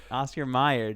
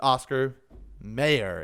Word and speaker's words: Oscar Mayer: wrong it sounds weird oscar meyer dude oscar meyer that's the way we i as a society have said it for so long but apparently it's oscar mayer is the way it's spelt with as bogus dude